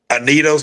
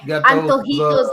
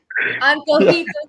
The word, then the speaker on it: Antojitos: Right. Anito's Laura. Yeah, her. Oh, you're saying Antojitos Laura. Antonito. There you go. Thank you, Paul. I'm sorry. Me speaking English. I'm sorry. Butchered it. Antojitos Laura. Yes.